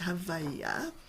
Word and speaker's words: Havayah: But the pronunciation I want to use is Havayah, which calls on an aspect of God that is being itself.